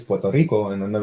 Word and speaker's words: Puerto Rico: I'll say it like I don't say like Puerto Rico right it's Puerto Rico and then they're like